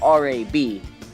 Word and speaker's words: RAB: So I just changed it to R-A-B, which most people pronounce as Rab, because that's less stupid sounding than R-A-B.